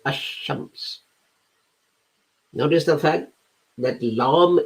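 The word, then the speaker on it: الشمس: it you you say ashames notice the fact that lamb is not pronounced la is not pronounced it's dropped you go straight to sheen tamar is the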